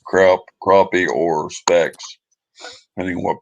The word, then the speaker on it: crappie: crappie c-o-r-a-p-p-i-e it's pronounced as spelled instead the pronouncing of uh crap crappy is the way it's i mean it's not pronounced that way it's spelled it's pronounced crappie c-r-o-p-p-i-e even though it's about their way that's